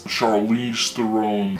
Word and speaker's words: Charlize Theron: I mispronounced Charlize Theron's name. Now, how do I even know how it's pronounced? Well, because of this. I want to hear it now. I go by Charlize Theron.